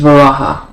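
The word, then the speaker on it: Varaha: actually say this properly, but it's v a r a h a and that's reebus to vara. Um, yes, it's two syllables.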